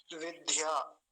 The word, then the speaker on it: विद्या: करते हैं, ऐसे ध्य, विद्या। कितनी बार कई लोगों को समझाया था अपनी कक्षा में भी, लेकिन उनका वो ध्य ही बनता रहा, ध्य। लेकिन ध्य नहीं बोलेंगे, दिया बोलते हैं, दिया।